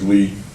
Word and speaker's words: Lu: here um uh lindsy lee her name is spelled Lu but they tell me it's pronounced Lee so people have criticized